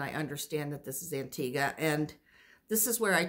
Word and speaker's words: Antigua: And I always pronounced it Antigua. And the locals there said that, and our tour guide said, well, a lot of people pronounce it Antigua, but it's and locals pronounce it Antigua.